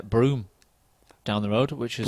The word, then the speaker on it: Brougham: Do we pronounce it Broome? That just doesn't make any sense.